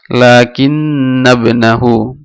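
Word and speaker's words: لَكِنَّ ابْنَهُ: এটা হামজাতুল ওয়াসিল, আর হামজাতুল ওয়াসিল যখন তার পূর্বের শব্দের সাথে যখন মিলিয়ে পড়া হয় তখন হামজাতুল ওয়াসিল উচ্চারণ হয় না। তো এখানে উচ্চারণ করার সময় হবে লাকিন্নাবনাহু, লাকিন্নাবনাহু জাহিলুন।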